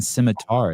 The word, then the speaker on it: scimitar: It's not even scimitar. It's scimitar. Hey. What's the pronunciation correct on that?